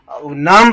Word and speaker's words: numb: तो नर्व में अगर प्रॉब्लम आ जाए, ठीक है, नम हो जाए NUMB, ठीक है, बी यहाँ साइलेंट है, तो उसे हम कहते हैं कि उसे न्यूरोलॉजिस्ट के पास भैया ले जाओ और उसका प्रॉपर ट्रीटमेंट कराओ।